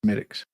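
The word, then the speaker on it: Smithwick's: English beer called uh smiix now it looks like it's spelled Smith Wix but it's smic that's Chinese no and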